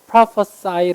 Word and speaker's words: prophesy: 동사일 땐 이렇게 발음합니다. prophesy 라고 발음해요. 얘가 sig예요. prophesy. 얘가 보통은 종교적으로 예언을 하거나 어떤 마법 주술 같은 걸 부려서 예언할 때, 예견할 때 prophesy 라고 하고요.